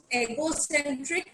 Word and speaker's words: egocentric: The last word is, okay, egocentric, not egocentric. Ego hota hai na, वैसे ही egocentric.